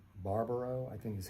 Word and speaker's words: Barbaro: And Monica, I don't know how to pronounce her last name. Barbaro, I think is how you pronounce it.